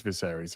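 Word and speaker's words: Viserys: You pronounce this for me. Viseries. It is Viseries.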